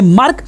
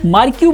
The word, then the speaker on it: MarQ: आप देख पा रहे हैं मार्क, MARQ, मार्क्यू बोल सकते हैं, मार्क बोल सकते हैं, जो आपकी मर्जी, जो आपको उच्चारण करना है कर लीजिए।